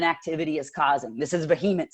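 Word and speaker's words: VHEMT: Excuse me, pronounced vehement.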